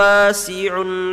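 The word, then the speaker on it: واسع: Wallahu wasi'un alim. It's un'a, two ains back to back. So we have to pronounce each one.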